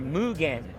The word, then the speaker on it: Mugen: They are Mugen. I'm teaching the proper Japanese pronunciation. Mugen.